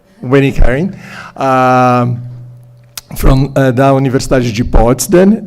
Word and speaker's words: Winnie-Karen: Did I pronounce it correctly? Winnie-Karen.